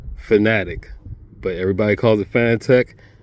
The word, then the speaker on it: Fanatec: And the reason why I call them Fanatic instead of Fanatec like everybody else calls them, another interview they had Jack and Meyer, and the guy asked him, how do you pronounce it? Fanatic.